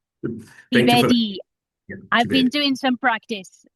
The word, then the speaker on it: Thibeli: discussing it's Tibeli it's spelled Tibeli but it's pronounced Tibedi. Yeah, South Sotho. The French are like South Sothos. They pronounce things differently to others well. So yeah. Tibedi I've been doing some practice before we start